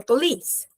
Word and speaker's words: police: Or I'm gna call the police. Cuidado que a pronúncia da polícia é lei. O stress tá no lei. Police, ok? Polce é outra coisa. E policy é outra coisa também.